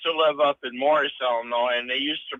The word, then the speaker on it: Illinois: I used to live up in Morris, Illinois, and they used to pronounce Joliet, Joliet. Yeah. Yeah. It's and that's somebody on Twitter actually said there's no noise in Illinois and there's no jolly in Joliet.